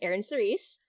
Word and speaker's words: Eryn Cerise: Okay, this is our new co-host, Eryn Cerise.